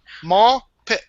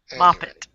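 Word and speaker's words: Mawpit: pronounce it it is it that's how you pronounced it is ma m a w pit p i t ma pit M pit mopit M pit John telby says you can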